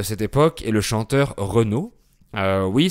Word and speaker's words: Renaud: Et l’un des symboles des jeunes parisiens de cette époque est le chanteur Renaud. Oui, c’est la même prononciation que la marque de voiture Renault.